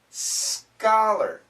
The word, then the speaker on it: scholar: then there's these words words like C chameleon scholar C scholar it's a k sound both have a k